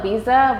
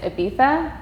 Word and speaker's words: Ibiza: beef what is it a lot of people call it visa but I think the proper uh pronunciation is Ibiza and it's in Spain